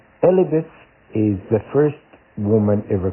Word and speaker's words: Elpis: So when you actually look up Pandora is Elpis. I think is how you say it. Elpis. Elpis is the first woman ever created.